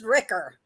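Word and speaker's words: Rikr: According to Google, it's pronounced Ricker. Ricker. R-I-K-R, Ricker. Ricker.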